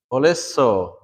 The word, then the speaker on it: holisso: Holisso, okay? Holisso. Remember, there's double consonants, so it's not holisso, it's holisso. Holisso, okay?